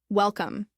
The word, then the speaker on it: welcome: Say the word welcome. Notice that the stress is on the first syllable.